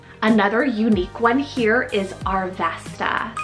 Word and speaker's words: Arvesta: Queenie coming back another unique one here is arvesta spell a r v s a arvesta like